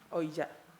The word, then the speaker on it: Ouija: Bacanya apa sih? Ouija.